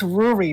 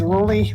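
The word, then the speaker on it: ルリ: It's Ruri, not Ruli. It's Ruli's name is Ruli. Like, you can't spell Ruli in Japanese, but Ruli's name is exclusively pronounced Ruli in Japanese, and the guy had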